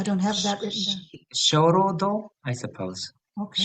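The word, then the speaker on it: 鐘楼堂: Shorodo, I suppose. Okay. Shorodo. Shorodo.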